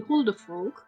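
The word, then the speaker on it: huldrefolk: Um, then you have the Huldefolk. So in this case, you pronounce the L in front of the K.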